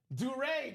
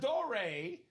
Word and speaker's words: Duré: Duré, not Dore or Door.